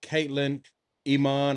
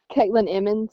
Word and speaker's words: Katlynn Emmons: Today I have Miss uh Caitlyn Iman. I hope I pronounced it right. If I didn't, she gonna correct me in a second. How do you pronounce it? Caitlyn Emmens.